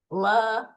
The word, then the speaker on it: lamblia: The trick to pronouncing Latin names is just say every vowel and say it with confidence. So I sometimes stumble, forgive me, but just go Giardia. So every vowel. Lambelia. So Giardia lambelia.